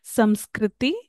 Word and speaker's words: Sanskrit: With Aryans came one of the Indo-European language, that is Sanskrit, and they pronounce it like Samskriti.